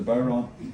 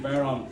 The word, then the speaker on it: bodhrán: The bodhrán?